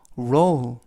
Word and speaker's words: roll: 조심해 칼이 너무 날카로워라는 뜻이 되겠습니다 이번 표현은 로우 로우 이라고 발음하시면 되겠고요 품사는 동사 뜻은 둥글게 말다 또는